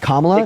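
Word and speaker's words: Kamala: then third of all her her name is pronounced KLA if you can't pronounce her name right just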